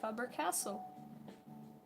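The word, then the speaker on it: Faber-Castell: idea I know that Faber Castle is um a German brand and I know how to pronounce it because it's Faber Castle it's not that hard but honey noonic oh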